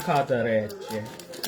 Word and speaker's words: casarecce: Or it could be, no, it's casarecce. It has two C's. You're supposed to, in Italian, you're supposed to pronounce both. So it's got to be a hard casarecce.